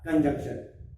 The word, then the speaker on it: conjunction: बोलने में कंजक्शन में एन नहीं आ पाता कभी कभी, क्लियर बोलोगे तब कंजंक्शन ऐसा बोलने में आएगा।